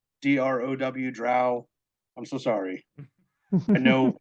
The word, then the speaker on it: Drow: It's hooked on phonics. BROW brow, DROW drow.